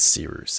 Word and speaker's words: Cirrus: Without further ado, my name is Cirrus. It's spelled like Cyrus, pronounc rooster. Just take out the ter.